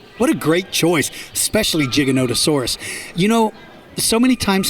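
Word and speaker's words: Giganotosaurus: a favorite Wow what a great choice especially gigolotesaurus you know so many times Hennessy people mispronounce its name when they see the word gigolotesaurus they think it says gigantosaurus and so many people tell me they like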